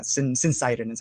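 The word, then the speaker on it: syncytin: topic but it's a protein called cincitin or sincidine or syncotin or pronounced a bunch of different ways but um yeah since it is how i like to pronounce it but yeah since cytin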